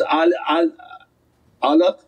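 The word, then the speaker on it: علق: So it's alaq, ayn, lam, qaf.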